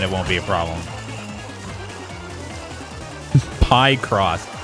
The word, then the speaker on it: Picross: Pie cross. Yeah, that's how you pronounce it, not Picross.